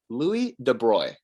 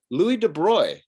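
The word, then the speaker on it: Louis de Broglie: next test i would it's pronounced louis de bruy so what i want you to do is if someone mispronounces it i want you to raise your hand you'll probably be in an in-person class at that time say oh contraire louis de bruy is the correct way to pronounce it okay feel empowered with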